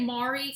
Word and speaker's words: Mari: I like this and I say Mari some people say Mary but my sister-in-law's name